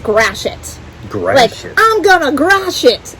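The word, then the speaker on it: Gratiot: read it here gratoit gratoit so it's not gratoite it's actually pronounced grashit great i'm gonna grash it like smash but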